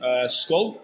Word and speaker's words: Skål: Skål. Yes, sir. Okay. Skål.